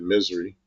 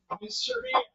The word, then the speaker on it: Missouri: We pronounce it Misery. Missouri. Makes perfect sense.